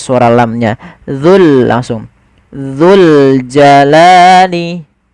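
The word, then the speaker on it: الْجَلَالِ: Dul langsung dzul jalali. Kemudian pada lafal li ada fathah bertemu alif. Ini kita namakan dengan bacaan mad thabi'i. Panjangnya berapa? Panjangnya adalah dua harakat. Yaitu kita memanjangkan lamnya.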